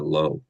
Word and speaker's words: Lowe: their roster makes me laugh though, because when we lived in another part of Orange County, we had some good friends named Brandon and Gina Lowe. Um, not Lau.